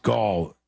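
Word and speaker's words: Gal Gadot: IMDb page yeah uh James says it's gal pronounced Gul G gadat I've never heard it said that way it could be I've always heard galgadot yeah so maybe I'm wrong but galgadot is what I've heard millions of times and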